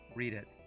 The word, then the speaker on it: Reddit: you literally just realized the Reddit is pronounced read it oh read it wait